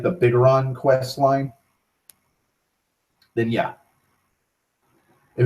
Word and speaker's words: Bigoron: Because there's a lot of fucking steps to getting the Bigoron sword, or Bigoron, or Big Goron sword. I've always pronounced it Bigoron. It's all one word, bitch.